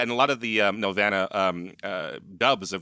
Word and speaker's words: Nelvana: Nelvana, yeah.